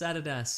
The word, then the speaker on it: Adidas: Nike yeah or like Adidas Americans call it Adidas incorrect it's Adidas or it is so maybe maybe lot crate is actually pronounced lot crate and they're like finally somebody